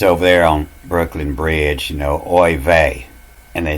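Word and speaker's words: oy vey: And you'll see this over there on Brooklyn Bridge, oi vey.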